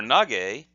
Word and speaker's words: Nage: But with the two tick marks there, that's a voiced, what's called a voiced sound, and so the ke becomes ge.